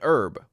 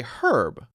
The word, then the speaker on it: herb: think then I wonder there's another word which starts with an H Americans say it as as and so we would say an herb but Brits say herb so I think they